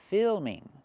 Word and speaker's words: filming: It's very good for you for filming or filming? Use the i sound like this is fi fi plus the dark L, film filming.